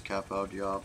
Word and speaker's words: Cap au Diable: I'm sure that there are people pronouncing Cap au Diable. A French speaker once pronounced it as Cap au Diable, and I can't stop doing that now.